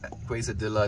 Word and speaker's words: quesadilla: Quesadilla is pronounced quesadilla and queso.